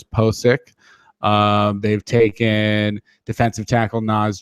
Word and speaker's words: Pocic: center guard Ethan Pocic, and that's a pronunciation that I've gotten off of, I think, his draft profile or off of Twitter, a reliable Twitter source, Pocic.